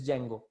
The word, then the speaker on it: Django: This Django, D is silent here.